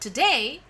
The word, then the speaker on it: today: Day is the first syllable and to is the second syllable. And whenever we tell the word today, always day gets the accent.